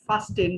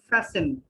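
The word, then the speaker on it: fasten: ফ্যাসেন your seat belts, এটা দেখে মনে হয় ফাস্টেন, কিন্তু এটা হবে ফ্যাসেন। ফ্যাসেন টির উচ্চারণ হবে না, ফ্যাসেন মানে বেঁধে নেওয়া।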